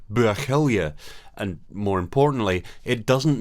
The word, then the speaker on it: Buachaille: to clear up two common misconceptions calling it buckle is still anglicizing the gallic phonetics it's pronounced more like bergelia and more importantly it doesn't mean great shepherd